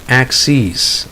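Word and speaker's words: axes: the difference there because the difference it's a long e sound so you have access plural of ax and then ax sees plural aw axis next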